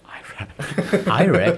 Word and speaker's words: Iraq: Iraq, not Iraq, man. Yeah, I know. Americans say that way.